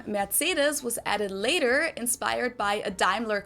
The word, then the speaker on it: Mercedes: So most Americans call this Mercedes. Right. In German, we pronounce it Mercedes.